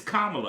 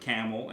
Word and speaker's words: Kamala: It's Kamala. I remember the comma. Kamala. So you just got to remember it from there.